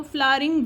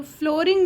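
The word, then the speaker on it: flowering: यही रिक्वेस्ट करना चाहूंगी कि अगर आप उसको फ्लावरिंग वर्ड का यूज कर रहे हैं कि देखो हमारे यहां कैसे फूल खिले हुए हैं तो नो लोग बोलेंगे हमारे यहां बहुत अच्छी फ्लोरिंग हो रही है। तो फ्लोरिंग नहीं होता।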